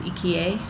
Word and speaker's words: IKEA: like e's so bo it's funny when you try to say ikea it's eka and sometimes they don't understand you when you say ikea because it makes no sense to them and that's what happened